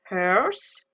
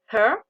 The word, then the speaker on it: hers: Donc qui sont mine, yours, his, hers, its, ours, theirs. Comme je vous l'ai dit dans la précédente vidéo, quand il y a un S en anglais, il faut bien le prononcer.